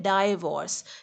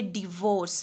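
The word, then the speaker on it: divorce: Ranchi pronounce करते हैं मॉलों इसको कह रहे होते हैं डायवोर्स जबकि डाइवोर्स नहीं है यह डिवोर्स है आप लोग जानते हैं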